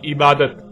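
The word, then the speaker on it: عبادة: اور جب عربی لہجے میں اس لفظ کو پڑھا جاتا ہے تو تیز ساکت ہو کر ہے کی آواز میں بدل جاتی ہے، یعنی اسے عبادہ پڑھا یا بولا جائے گا.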